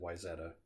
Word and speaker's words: Wayzata: zetas or ways odda but everybody I knew pronounced it Wayzata and I went to wise at an elementary